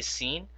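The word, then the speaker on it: س: Now the way to differentiate this is that when you say scene try to put a smile on your face. I call this I call scene a smiley letter and I call swad a frowning letter.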